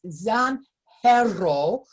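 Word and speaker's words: zanjero: in the series it's death of the zangero that's pronounced zan herrera that is based on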